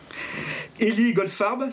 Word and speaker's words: Élie Goldfarb: Élie Goldfarb, je prononce bien, c'est ça? C'est ça.